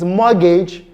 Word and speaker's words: mortgage: When the T is pronounced, even in similar structure, for example, in the word mortgage and often, you have the word mortgage. It's not mortgage, it's mortgage, and often both have a silent T, while the word target and esteem do not.